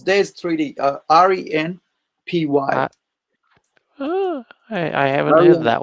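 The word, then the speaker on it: Ren'Py: How do you spell it? It's DES 3D. R-E-N-P-Y.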